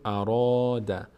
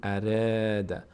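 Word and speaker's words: أراد: قاف خا و را اینجا میگیم اراد نمیگیم ارد ارد ارد ماذا ماذا ماذا اراد دقت کنید فرق بین تلفظ را و ذا و میم با اینکه همه اینا الف روشون هست این د تا اولی باری خونده میشن میم و ذا را پر خونده میشه مذا ببخشید مذا اراد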